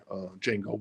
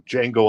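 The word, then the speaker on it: Django: think named her dog Jango because of that as well or maybe it's from D Jango on chain because the D is silent Penny Lane oh maybe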